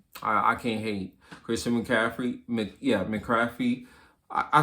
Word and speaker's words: McCaffrey: McCaffrey. I said Crafty.